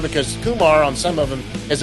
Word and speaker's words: Kumar: And he said, some people have been saying Kumar, it's Kumar. And I emailed him back and I said, that's probably me, Rich. I'm sorry. And he goes, hey, it's 99% of us. We've all been saying it wrong. I did it yesterday, even after the email. I mean, it's Kumar. It's like Lamar. Like Lamar, exactly. And like Lamar with a K.